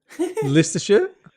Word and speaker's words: Leicestershire: Leicestershire?